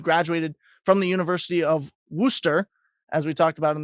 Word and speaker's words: Worcester: In 2016, you graduated from the University of Worcester, as we talked about in the show. It's not spelled that way.